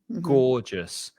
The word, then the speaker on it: gorgeous: is absolutely gorgeous and you stress that first syllable go gorgeous just two syllables gorgeous and i like that word